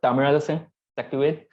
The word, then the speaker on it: Thamizharasan Sakthivel: So myself, Thamizharasan Sakthivel. So it's tough to pronounce.